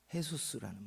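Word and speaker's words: Jesús: 해수스. 응. 해수스라는 말입니다. H 발음을 안 쓰니까 해수스라고 예수님이라고 아들을 낳아놓고 놀랍게 우리나라 사람들은 상상하지도.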